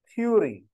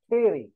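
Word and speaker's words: theory: आप लोगों की जबान में थ्यू, थ्योरी, इट्स थ्योरी नॉट थ्यू, इट्स थ्योरी।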